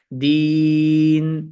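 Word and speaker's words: دِينٌ: সাথে অর্থাৎ থামার কারণে এখানে আমরা শুনতে পাচ্ছি দ্বীন কিন্তু লেখা থাকবে হচ্ছে কিন্তু দিনুন অর্থাৎ মুনাওয়ান অবস্থায় লেখা থাকবে কিন্তু থামার কারণে দিন ঠিক আছে এটাই মূলত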